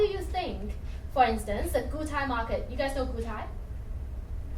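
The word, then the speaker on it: Gutai: so how do you think for instance the Guai Market you guys know Guai how Guai it's spelled g u t a i it's a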